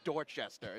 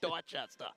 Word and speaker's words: Dorchester: I can't call it Dorchester. It's Dorchester.